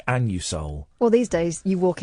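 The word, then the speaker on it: Anusol: I want some an it's pronounced an you Soul well these days you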